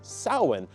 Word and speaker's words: Samhain: origins of Halloween are within sin which is spelled samhan which is one of